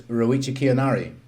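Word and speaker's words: Ryuichi Kiyonari: off the top of my head, I think his name is Ruichi Kianari.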